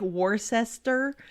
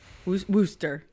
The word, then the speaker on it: Worcester: how you say it it looks like warcester but i know it's worcester like right isn't that how they say it worsh worcester wooster massachusetts early on it was